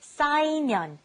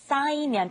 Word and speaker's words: 쌓이면: The first one was 쌓이면, 쌓이면, to pile up. Be careful with the 쌓. 쌓이면, 쌓이면. The second one, to relieve or get rid of.